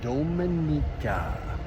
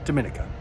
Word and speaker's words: Dominica: Well, what an amazing day in Dominica. We learned the proper pronunciation because apparently a lot of people pronounce it Dominica.